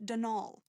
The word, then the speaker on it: Donal: that was the caretaker denal Delaney not Donald mind you there's no D at the end so it's pronounced denal that's the way you're